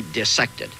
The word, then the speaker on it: dissect: a moment ago, but this one cannot be dissected. Parenthetically, you notice I pronounce the word dissected, not dissected.